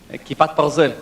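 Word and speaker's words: כיפת ברזל: Kipat Barzel.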